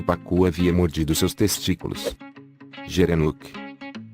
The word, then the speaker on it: gerenuk: A palavra gerenuk, pronunciada com um G duro, vem da língua somali, que significa gira-pescoço.